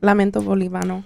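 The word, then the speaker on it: Lamento Boliviano: Lamento Bolivano.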